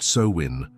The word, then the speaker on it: Samhain: Sam Hayne pronounced so win like the wind through a hollow tree.